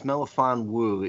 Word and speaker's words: Melifonwu: It's Melifonwu.